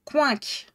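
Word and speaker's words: Quincke: Ça se prononce coinc.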